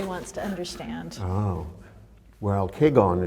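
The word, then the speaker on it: Kegon: Well, Keigon is the Japanese pronunciation of Huayan, which is the Chinese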